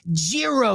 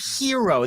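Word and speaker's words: gyro: of people call them Jiro it's the wrong way to say it you say hero that's the proper pronunciation and I'm very traveled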